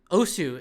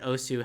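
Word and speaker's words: osu!: like o because that's that's the Japanese pronunciation you don't pronounce the U just like when you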